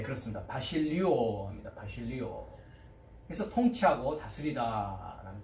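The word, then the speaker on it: βασιλεύω: 그 다음에 이제 왕이라고 하는 명사는 동사 936번 뭐라고 발음합니까? 예, 그렇습니다. 바실리오 합니다.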